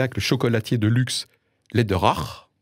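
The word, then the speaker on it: Läderach: le chocolatier de luxe Lederach, si je prononce à l'allemande, dont le patron est impliqué dans des organisations pro-vie.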